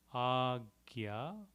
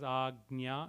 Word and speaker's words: आज्ञा: Ram duare, Ram duare, tum rakhware, tum rakhware, hotna agya, hotna agya. Typically, in Sanskrit, we would pronounce it as Agnya and with the tilde on it.